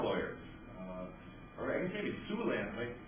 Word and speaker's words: Siouxland: Or I guess maybe Siouxland might sound bad for an attorney. Yeah, it's spelled S-I-O-U-X, not S-U-E.